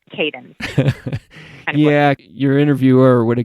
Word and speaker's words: Kadin: caden means woman in turkish in turkish it's pronounced but i didn't think that we would be able to push that so it's kaden yeah your interviewer would have got that one